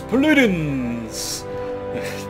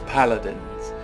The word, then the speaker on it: Paladins: he appears to be locked anyway this is Pudin not pronounced in that way it's paladins anyway let's have a look at the Champions